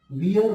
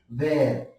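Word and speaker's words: wear: पहला शब्द है वेर, देखिए इसका जो प्रोनाउंसिएशन होता है वो वियर नहीं होता है, ये गलत प्रोनाउंसिएशन, इसका प्रोनाउंसिएशन होता है वेर, है ना, वेर, या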